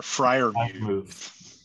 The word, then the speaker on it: Freiermuth: Freiermuth? There's an R. It's an R in there. Freiermuth. Yeah, there you go.